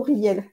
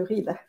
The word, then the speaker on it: Riehl: Mais mon nom de famille se prononce plutôt Riel que Ril. Tu vois? Oh, Ril, pardon, non, c'est pas grave. C'est en excuse-moi. Alsace, ça se dit Ril, mais chez nous, ça se dit Riel.